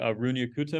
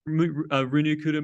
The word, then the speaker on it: Runge-Kutta: of contexts before are just going to be Runge-Kutta methods. That's how I pronounce it.